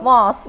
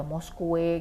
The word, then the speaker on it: mosque: Nah itu kan bacanya kan harusnya mosque gitu. Nah kalau dari awal dari SD itu dikasih tahu yang salah gitu ya, bacanya bukan mos gitu, tapi kok ada Moskwe gitu kan, ada yang kayak gitu ya.